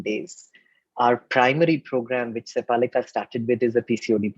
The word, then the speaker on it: Sepalika: So Sepalika is the name of the clinic. It's spelled Sepalika.